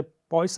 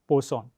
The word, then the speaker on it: Poisson: हो हमारा elastic constant इसको बहुत सारे लोग मिस प्रोनाउंस करते हैं जैसे पॉइस कहते हैं पर एक्चुअल प्रोनाउन इसका है पोसन आपसे आपसे अनुरोध है